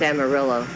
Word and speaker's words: Amarillo: coffee drink Amaretto s Amarillo Amarillo sounds like armadillo armadillo and plus Travis said